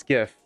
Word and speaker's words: GIF: It's not GIF, it's GIF. It's not GIF.